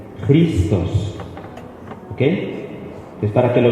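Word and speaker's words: Χριστός: Si se pronuncia, no se pronuncia X, se pronuncia J. Y esto es una R, Christos.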